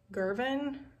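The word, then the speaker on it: Girvan: but it is g-i-r-v-a-n i think it's like girvin i want to say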